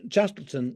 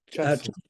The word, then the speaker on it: Castleton: It's just that it's doing it in a much more geometrical form, whereas Chattleton, is that how it's pronounced, Chattleton, or do they call it Castleton? Castleton.